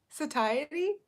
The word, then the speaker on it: satiety: day sat ty t satiety oh my lord you guys I'm so many different pronunciations satiety yeah I'm gonna have him tell me how it is ty like tire shoe satiety satiety yeah